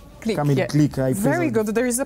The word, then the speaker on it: Kamil Glik: Looking at the other players as well, you have players like, let me just get the pronunciation correctly, Kamil Glik. Glik, very good.